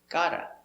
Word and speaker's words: gotta: Gotta. G. Ah. Ga. D. God. God. Gotta. Gotta. Gotta.